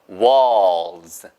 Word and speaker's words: walls: walls. 한 다음에 L만 살짝 들리려는 말랑. 이렇게 하시면 돼요. 보세요. walls. 네, S 발음이 있어서 그나마 L이 더 들리는 거예요.